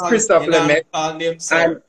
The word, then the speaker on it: Christophe Lemaitre: So the sprinter's name is Christophe Lemaitre.